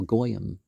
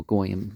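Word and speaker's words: goyim: back on God a so goyam is the plural for that well goam wouldn't be a proper Aramaic pronunciation okay so verse 13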